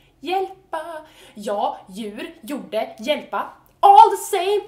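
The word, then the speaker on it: hjälp: the word is help Swedish word for help is yel spelled HJ yel all the same sounds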